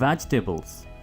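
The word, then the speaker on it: vegetables: Bring out, bring out द वेजिटेबल्स। सब्जियों के English वेजिटेबल्स। इसको आपने वेजी नहीं कहना, यहां पर डबल ई प्रोनाउंस मत कीजिए।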